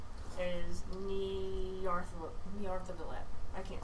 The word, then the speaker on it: Nyarlathotep: god's name is Nyarlathotep. I can't say it, but she says it right. Nyarlathotep.